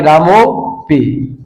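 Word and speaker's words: रामोऽपि: पद बन जाएगा आपके रामो पी। ठीक है, अच्छा ये अवग्रह जो है वो उच्चारित नहीं होता है, तो पूरा पद इसको हम कैसे उच्चारण करेंगे, तो हो जाएगा रामोपी।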